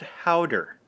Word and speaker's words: Gouda: try it first okay gouda is pronounced harder powder cheese no I did not